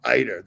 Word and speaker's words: ITER: They pronounce it eater, but I call it ITER. I always have.